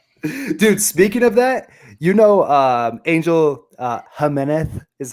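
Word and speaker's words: Jiménez: I know it's correct to say Jimenez, but I don't need to hear that.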